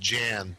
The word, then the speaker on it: Jann: And I believe it's pronounced Jan, Jann.